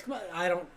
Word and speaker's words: Kamala: Well, it's definitely not the second one. Because the reporter got in trouble for saying it. It was like, you're saying it wrong. She was like, but I'm saying Kamala. And they're like, no, it's Kamala.